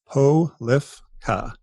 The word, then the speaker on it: Polifka: So Polifka is phonetically correct. A lot of times people will try to add a little something in there, but it's Polifka.